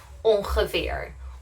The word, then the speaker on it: ongeveer: pronounce a ng sound, but we don't do this for a handful of words. For example, ongeveer or ingrediënten. Then we don't use the ng sound and we separate them instead.